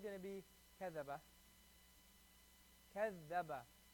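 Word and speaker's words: كذّب: Kaz zaba. Kaz zaba. Kaz zaba. Kaz zaba. Kaz zaba. Kaz zaba. When you connect it, it's going to be kazzaba. You connect it, it's not going to be kazzaba.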